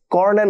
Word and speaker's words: colonel: তো উচ্চারণের সাথে বানানটি হওয়ার কথা ছিল এরকম যে CORNEL, কর্নেল।